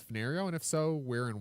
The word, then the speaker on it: Fenario: And there he suggests that Fenario is a perfect place name. If you need a generic name for an indeterminate place because it has 4 syllables, fen, ner, re, o.